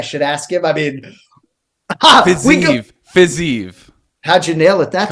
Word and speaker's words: Fiziev: I mean, Fiziev.